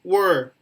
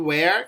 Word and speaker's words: were: Just pay attention, Diego, to were. Were used. What do you pronounce it where? It's related to place.